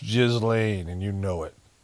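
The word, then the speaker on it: Ghislaine: Or you maybe want to pop in to ask Galileain? It's pronounced Jiz Lane and you know it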